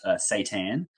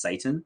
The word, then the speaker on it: seitan: There's a vegan product called Seitan. And it's, but some people say it as Satan. And so I would love to make a song called Hail Satan, but it's spelled Seitan.